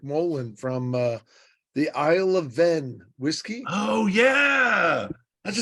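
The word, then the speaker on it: Hven: Isle of Ven, though it's spelled H-V-E-N.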